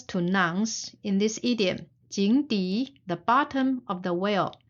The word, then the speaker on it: 井: down characters by character and we will practice pronunciation together the first character is jing a whale and the second one is the